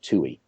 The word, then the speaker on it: Tuohey: And one of the guys, the number 2 guy in the Starr investigation, was a guy named Mark Tuohy. It's spelled Tuohey.